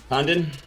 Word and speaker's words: Condon: Condon. How do you say your last name? Condon.